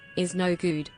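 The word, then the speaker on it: Iznogoud: Is no good, pronounced his/is no good with a French accent, is a French comic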